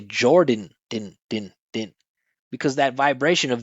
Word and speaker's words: Jordan: And again, it's the unstressed syllable with the N at the end, so there's no vowel. We just say din, right? He said Jordan. We say Jordan, din.